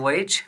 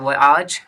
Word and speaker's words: voyage: It's called voyage or voyage, both pronunciations are correct, and finally they reached there.